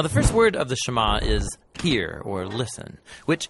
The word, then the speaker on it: Shema: Now, the first word of the Shema is hear, or listen, which in Hebrew is pronounced Shema.